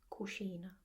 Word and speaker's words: cucina: So they tend to pronounce it quite like an S, dieci, quite like an S-C-E that becomes the English sound sh. It kind of becomes dieci, cucina, and it's so lovely.